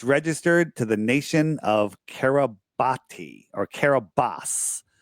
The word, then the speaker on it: Kiribati: It's pronounced Kiribati. It's pronounced Kiribati.